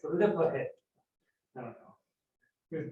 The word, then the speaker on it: Lippershey: Guy named Hans Lippershey. I used to pronounce it Lippershey, but then somebody told me that's wrong. The S actually goes away. It's the Lippershey.